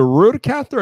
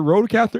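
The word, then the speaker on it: RØDECaster: rude yeah yeah yeah that's it so you'll pronounce it so is the rude caster and not the road caster it's the road caster okay that's right now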